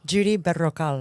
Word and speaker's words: Judy Berrocal: Judy Berrocal. Oh, you got to roll the R.